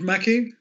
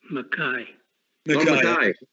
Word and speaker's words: Mackay: Lord Mackey? Mackay. You're probably not recognising my pronunciation.